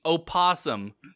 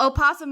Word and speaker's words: opossum: instead of opossum um there is some debate as to whether or not the o is silent which i thought was